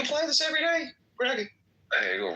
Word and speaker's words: Hegel: Hegel rhymes with bagel.